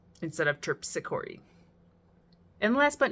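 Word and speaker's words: Terpsichore: Nine out of 10 times I said Tpsor instead of Tpori.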